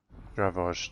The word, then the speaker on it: Dravoj: I'll see you in Dravost. Dravoj, that's how you pronounce it.